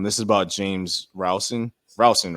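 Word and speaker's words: Rowson: the season um this is about James rouson rouson right I have I'm pronouncing it correctly right yep okay uh James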